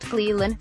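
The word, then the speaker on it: Clelin: I got votes for Clellan, pronounced Cleland, Farrell, who didn't run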